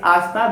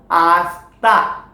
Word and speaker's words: hasta: Why it's hasta? Because it is silent, so hasta.